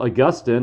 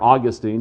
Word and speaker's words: Augustine: it wasn't really until augustine or augustine depending upon how you want to pronounce it of hippo uh who